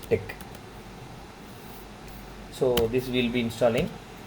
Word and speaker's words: TeX: in brain x so we should not call it as X we have to collect aspect so to be pronounced as thick so this will be